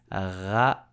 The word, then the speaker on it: ratatouille: First, you have to know how to pronounce the R like a French. So, ratatouille, ratatouille, ratatouille.